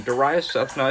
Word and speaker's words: Darius Sethna: the Contributors tab and click on my name, Darius Sethna. It's about the second or third one down. It's spelled Darayyussethna.